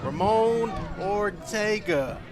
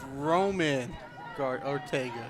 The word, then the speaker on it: Roman Ortega: It's going to bring up number 7, the first baseman, Ramon Ortega. That one was not coming back. I'm sorry, it's on my pronunciation. It's Roman Ortega. Roman, there we go.